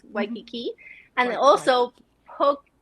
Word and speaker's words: Waikiki: Well, some people say like Waikiki. Not Waikiki, it's Waikiki.